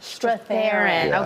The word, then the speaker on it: Strathairn: Strathairn.